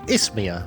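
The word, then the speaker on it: Isthmia: goodness you know the ismia great Forest should be nearby according to the map It's Mia okay that's how you say it I don't think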